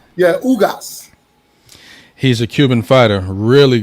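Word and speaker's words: Ugás: How you pronounce his name? Ugas. Yeah, Ugas.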